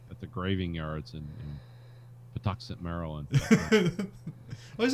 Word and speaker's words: Patuxent: Maryland how do you say that the Dachshund Patuxent Maryland okay yeah uh Jack is watching them